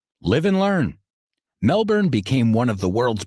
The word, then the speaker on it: Melbourne: word Melbourne wrong my whole life I always pronounced it Melbourne but it's more like Melbourne live and learn Melbourne became one of the world's biggest and wealthiest